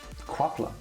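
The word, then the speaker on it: Qapla': Quapla, success, pronounced quapla, usage. That doesn't make it any better, by the way, that pronunciation.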